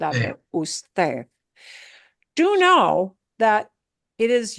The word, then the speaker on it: usted: You have to say the whole word usted, usted. And notice that D at the end sounds like a TH, usted, usted.